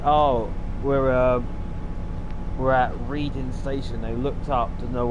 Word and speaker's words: Reading: So it's a syllable of the letter E. But it's Reading.